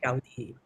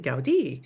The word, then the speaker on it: Gaudí: Y en Barcelona hay muchos edificios, mucho arte por Gaudí. And notice, by the way, that he does have an accent on his I, so we pronounce it Gaudí because the inclination is to say Gaudí.